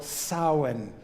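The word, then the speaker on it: Samhain: I just don't see how those letters could possibly spell sin. But they do.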